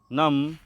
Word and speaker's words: numb: और बी कब साइलेंट होता है, जब बी से पहले एम आए तो बी को साइलेंट पढ़ें।